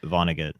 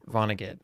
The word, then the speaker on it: Vonnegut: Vonnegut. Vonnegut.